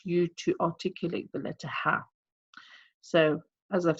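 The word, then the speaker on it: ح: you say ha ha and I have that air present because that's one of the characteristics of the little hat so it's very important that you get that air present in the pronunciation of the letter ha so ha ha ok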